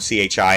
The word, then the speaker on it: chi: letter chi which is chi spelled c-h-i it's pronounced k-i chi so that x-looking letter